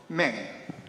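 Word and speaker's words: 明: The Myung, in Chinese, the pronunciation the Meng.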